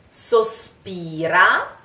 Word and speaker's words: sospira: Sospira, try. Sos, closed O. Sospira. P, like power, like pound, like sospira.